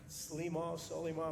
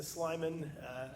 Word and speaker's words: Slimon: My grandfather, Khalil Slimon, or Solimah, I've heard it pronounced so many times, so many ways.